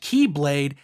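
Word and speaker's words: χ-blade: In it, Sora must stop the evil Xehanort from acquiring the X-Blade, pronounced Keyblade, and accessing Kingdom Hearts, the heart of all worlds.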